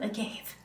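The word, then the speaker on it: agave: okay so totem King it is spelled AG g a v e so it's blue a gave I know you're like still sounds like AUP to me that's fair that is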